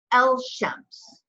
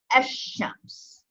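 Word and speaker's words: الشمس: So you don't say El Shems, you say Esh Shems. So you actually are putting a shedda over that sheen. And you're skipping from the aleph over to the sheen, and you're pronouncing it twice.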